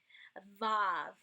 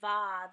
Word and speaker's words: Vav: Hey is pronounced like the H in help, transliterated with an H. Vav. If you hear what I'm saying, Vav, there's kind of like a V type sound